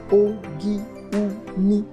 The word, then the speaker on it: Ogun: The word Ogun, pronounced in Yoruba as Ogi-Uni, has different pronunciations and interpretations,